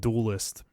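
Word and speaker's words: Duelyst: this's this little game called duelist dual yst is how it's spelled um and this was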